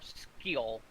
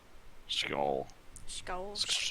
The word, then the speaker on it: Scheol: earlier m s CH yes like school so it might be skull or skill skull skull all right well we've